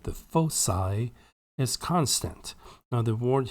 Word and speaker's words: foci: fixed points called the foci is constant now the word here in Gold by the way that's not full key it's faux PSI it's literally the C is pronounced as an S here so we have Foci